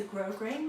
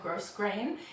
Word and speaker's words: grosgrain: last week it's a grosgrain ribbon i know how to pronounce that word now thank you to everyone who corrected me last time i said gross grain it's grosgrain and it's kind of got